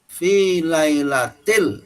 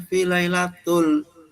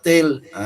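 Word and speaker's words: لَيْلَةِ: Nah, harusnya kan fi lailatil. Nah, ini bacanya fi lailatul. Nah, salah, ya. Mengapa harus fi lailatil? Karena di depannya ada harfu jar yaitu fi, gitu. Nah, ini imam bacanya inna anzalnahu fi lailatul. Imam yang membenarkan jangan tul tapi til, gitu.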